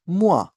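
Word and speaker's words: moi: सो एम ओ आई इज मुआ similarly L ओ आई इज लुआ इट्स नॉट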